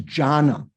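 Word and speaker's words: jhāna: a so in diana they even changed the dh to ja to to just j the d i don't say d-h-y they change to uh j so it's jhana so it's not it's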